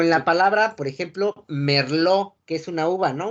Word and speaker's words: merlot: Como en la palabra, por ejemplo, merlot, que es una uva, ¿no? Una uva francesa. Digo, así. Como merlot. La T no se pronuncia por la regla TES. Entonces la pronunciación es merlot.